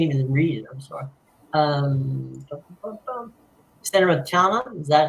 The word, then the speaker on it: Salernitana: Salernitana, is that how you pronounce it? Yeah, Salernitana.